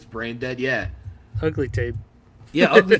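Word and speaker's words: Brejnded: bra dead in Swedish spelled like b r e j n d e d say brain dead yeah ugly tape yeah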